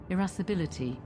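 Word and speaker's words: irascibility: Um, how do you pronounce that? Irassibility.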